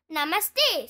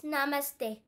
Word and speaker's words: Namaste: rabed the children jump up and down exactly Namaste say is Miss Rabbit putting her fing putting